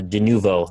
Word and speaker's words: Denuvo: Uh, denuvo, that's how you say it.